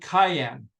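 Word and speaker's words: Khyan: the 15th Dynasty uh King named Cayenne uh pronounced the same way as the pepper but it's not not the pepper here's a cayenne and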